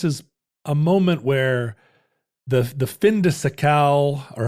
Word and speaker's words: fin de siècle: This is a moment where the fin de siècle, or how did we decide we were pronouncing that?